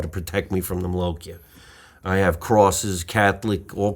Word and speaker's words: malocchio: Malocchio.